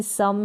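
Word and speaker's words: some: कई स्पेलिंग्स होती है जैसे कि सम है यहां पर सम अ के रूप में प्रोनाउंस कर रहे हैं डन है यहां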